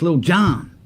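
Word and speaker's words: Lil Jon: BK says, stop pronouncing his name wrong. It's Lil John.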